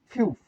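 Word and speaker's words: 피읖: ফিউপের উচ্চারণ প্রথমে থাকলে ফ, মাঝে থাকলেও ফ, নিচে থাকলে প।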